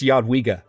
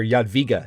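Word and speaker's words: Jadwiga: not pronounce names correctly it's yadwiga or Yad via if you want to be very particular um it's a soft J so my bad for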